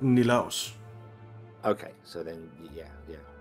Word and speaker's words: Nilaus: So he's Danish, and he pronounces it Nilaus.